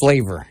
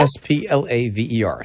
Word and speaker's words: Splaver: Splaver. Splaver. Yep. S-P-L-A-V-E-R. Splaver. Okay. Now, say that one more time, just in case somebody's trying to write this down. Dr. Splaver. S-P-L-A-V-E-R. Rhymes with flavor.